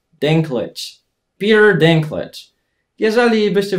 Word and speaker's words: Dinklage: Tak wymawiamy jego nazwisko. Właśnie Dinklage. Dinklage.